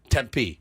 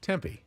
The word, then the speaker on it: Tempe: Gonzaga the zags temp Arizona temp not temp Tempe Tempe temp no Tempe it's Tempe Tempe it's Tempe Tempe yep Tempe